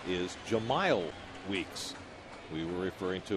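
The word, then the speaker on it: Jemile: Realized that we have been mispronouncing Weeks' name the first 2 games of the series. His name is Jahmile Weeks. We were referring to him as Jamil.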